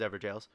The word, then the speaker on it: Evergaol: the Stormveil Evergaol, which apparently that's how they're pronounced, is Evergaols.